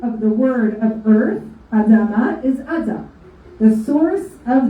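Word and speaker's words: אדם: Adam, in English they call it Adam, but the proper pronunciation from the Torah, from the Bible, is actually Adam.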